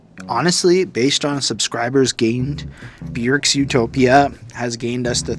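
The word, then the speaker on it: Björk: cool to me and yes it's pronounced Bjork Bjork yes I got schooled and got told how to go learn how to pronounce it if I wanted to review all her music and I said fair point and it's basically like jerk but Bjork anyway I gave this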